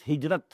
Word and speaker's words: hijra: I'll explain the word hijra also hijra which we in udu pronounce hijat this is the negative